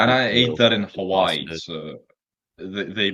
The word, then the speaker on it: Hawaii: the ey that much it's Hawaii Hawai huh you just add an i at the end there's two eyes in Hawaii wait how do you